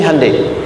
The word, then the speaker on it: Hyundai: Sehingga ketika di sana bikin Honda, sini Hande Hyundai kan dibacanya Hande ya kan? Sana Honda, sini Handai gitu.